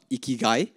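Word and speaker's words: ikigai: so for me I follow a framework called iiy so it's spelled i k i g AI so it's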